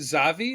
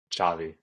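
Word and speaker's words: Xavi: so I I know is it zavi is that how you say his name Chavi Chavi yeah he yeah so Chavi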